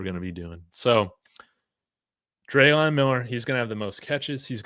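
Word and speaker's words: Dre'lon: It's Drayon, not dry. That's what Dante's saying. Okay. It's pronounced long a forget what that was. Long a dre. Drayon.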